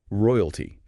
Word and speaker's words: royalty: Royalty. Three syllables. R O I U T. Stress is on the first.